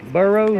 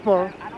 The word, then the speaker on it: Barrow: Burrow, is that how you pronounce that? It's Barrow. Huh?